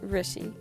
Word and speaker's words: Rishi: It's pronounced Rishi.